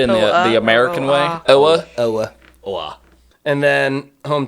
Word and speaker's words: Oa: where he is, planet Oa. Uh pronunciation. That's pretty right. Okay. Pretty right. I think most people say Oa but you're you're saying it essentially the same.